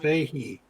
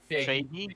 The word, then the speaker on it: Feige: Rumors are abound that Kevin Feige and Feige, how do you pronounce his name? Fahey. Fahey?